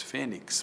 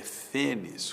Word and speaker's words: fênix: fênis, muita gente diz fênix, mas a pronúncia erudita é fênis, com X no final, látex, muita gente diz latex, mas não é latex, é látex, né?